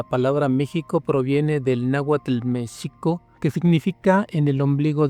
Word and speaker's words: México: De esta manera, juntas las sílabas se pronunciarían mexico.